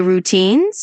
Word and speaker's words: routines: As a little tip, when you say routines, just emphasize the second syllable a bit like routines.